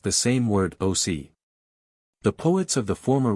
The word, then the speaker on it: oc: whose speech bearing some affinity to the Italian, pronounced the same word oc.